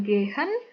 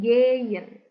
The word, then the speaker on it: gehen: Contohnya bukan gehen, tapi geyen. Seperti itu.